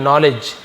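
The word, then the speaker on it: knowledge: का यूज करते हैं नॉलेज यहां पे के साइलेंट है एल साइलेंट है है ना नॉलेज सॉरी डी साइलेंट है एल नहीं है नॉलेज डी सेलेंट है तो के और डी यहां पे सन लेटर है तो इसे हम लिखते हैं लेकिन पढ़ते नहीं है अपने जानकारी को ज्ञान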